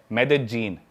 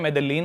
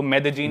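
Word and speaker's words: Medellín: मेदजीन। Spelling में उसमें double L आता है। मेदलीन होता है। लेकिन कोलंबियन स्पेनिश में ल को ज बोलते हैं। तो मेदजीन वो शायद उसकी मेन सिटी है ना उस कंट्री।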